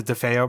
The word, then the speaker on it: DeFeo: For instance, I forget, how did you pronounce the name again? DeFeo? Yeah, the DeFeo murders.